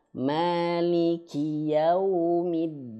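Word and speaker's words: يوم الدين: Huruf dal dia tidak memiliki sifat angin, enggak punya dia. Nah, bagaimana contohnya? Diantaranya gini. Maliki yaumiddin. Begitu saja. Lembut saja, jangan sampai ada penekanan yang berlebihan sehingga ada angin. Maliki yaumiddin, nah ada angin, ada hamesnya. Middin, nah itu jangan ya, itu harus kita hindari.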